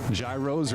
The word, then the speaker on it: gyros: What is the pronunciation? Is it gyros or euros?